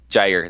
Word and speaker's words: Jaire: Jaire, there you go.